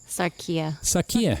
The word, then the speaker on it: Sarquil: close so mr and mrs sakia sakia sakuya sarkia good i've been pronouncing it right all this time can you